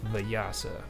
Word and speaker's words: Vyasa: How do you spell it? No, Vetus Vetus. No, Or Veda, and it's Vyasa, Vyasa.